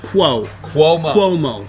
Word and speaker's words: Cuomo: Cuomo had people dying. Who is that? Pronounce it for him real slow. It's like a Q. Cuomo.